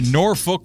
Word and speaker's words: Norfolk: It's the Norfolk Tide. That's how you pronounce Norfolk, right? Yeah, Norfol. Norfolk.